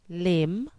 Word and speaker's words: limb: rubber rubber blubber rubber B is silent when it follows m as in com limb Tom com limb tomb B is also silent